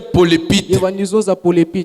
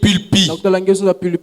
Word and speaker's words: pulpit: alors maintenant il dit toi tu disais polépite au lieu de dire pulpit tu disais polépite. Tu vois que si tu prononces bien les mots l'assemblée serait très bénie très content au lieu de dire polépite ça c'est une erreur.